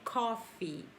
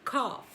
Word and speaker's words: coffee: Mas muita gente, acha que está falando bonito e acaba dizendo cough. Cough. Mas não é, tá? É o contrário. A palavra tossir que é pronunciada cough. Cough. Já café em inglês é coffee.